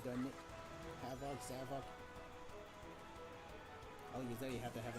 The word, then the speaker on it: Zavok: Hey, Zavok. Your name rhymes with Havoc for a reason, doesn't it? Savoc.